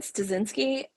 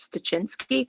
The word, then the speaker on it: Styczynski: My family pronounces it half pronounce it one way, half pronounce it another way. So there's What's like what's the two pronunciations? I want to hear so there's the way you said Styczynski, and then there's the more Polish way, which is Styczynski, which I think is